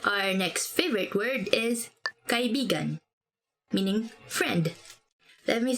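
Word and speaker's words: kaibigan: about it okay our next favorite word is kai bigan meaning friend let me say something about this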